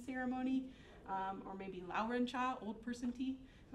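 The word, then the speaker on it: 茶: the northern dialect of Chinese Mandarin and the pronunciation of the word for T is cha right so that's why you get words like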